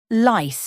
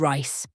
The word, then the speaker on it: rice: He would say things like lice instead of rice, because the Japanese language doesn't have the R sound.